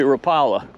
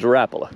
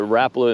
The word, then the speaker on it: Rapala: or you say rapala because the company says rappala whenever i call it rapple and videos though it offends a lot of people it's rapala i'm sorry i'll tell the company that they pronounce it wrong so how much do